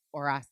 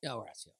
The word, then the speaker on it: Horacio: So, because they asked about it, and it's in Spanish, you do not pronounce the H. H's are silent. Horacio. So it's Horacio. Horacio.